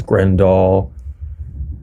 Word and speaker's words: Grendahl: know gren grendel and technically my pronunciation is grand doll it stems from like a norwegian it's like two words